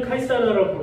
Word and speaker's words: 카이사르: 우리는 카이사르라고 부르고 영어식 발음은 시저입니다.